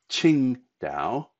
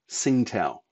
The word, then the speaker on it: Qingdao: But in any case, it is Qingdao, not Tsingtao. That's the same for the bear, it's the same for the city.